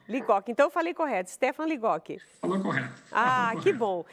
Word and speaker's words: Stefan Ligotti: Essa é a pronúncia correta? Stefan Ligotti. Ligotti, então eu falei correto, Stefan Ligotti.